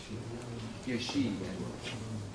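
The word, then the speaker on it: ישי: How did he pronounce Jesse? Yeah. Yeshi.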